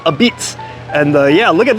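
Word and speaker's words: apizza: when I was a noob, I called this a pizza, but now that I know, it's supposed to be pronounced a Beats.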